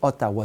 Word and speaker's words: Ottawa: européen qui débarqué ici la façon dont l'algonquin ou lire couaillier pouvait prononcer le mot haddaway sai sonnait comme ottawa donc on les écrit